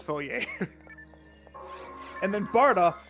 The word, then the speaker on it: Barta: says folie and then barda oh this one's a tough one it's pronounced barta i don't know why